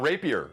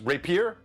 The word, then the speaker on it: rapier: wrong all my life it's not rapier it's rapier it's i i think either either or yeah either or yeah i